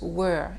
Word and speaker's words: were: vous voyez bien que je prononce were et non pas where. Hein, attention à la prononciation. Where, c'est pour dire où, hein, le lieu. Were, c'est l'auxiliaire. To be au prétérit au pluriel.